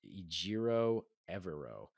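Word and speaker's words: Ejiro Evero: the Broncos defensive coordinator I believe is his name is pronounced ijiro evero I hope I said that correctly um I should have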